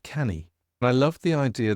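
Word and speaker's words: Canu: So we set up our own publishing company, which is called, it's pronounced, it's spelt C-A-N-U, Welsh word, and it's pronounced canny.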